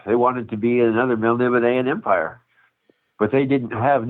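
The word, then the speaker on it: Melniboné: Is it Elric of Melnibone? Is that how you say it? Melnibone? That's how I say it.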